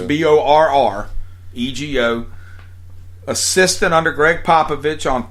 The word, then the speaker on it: Borrego: Borrego. James Two Borrego. R's. Borrego.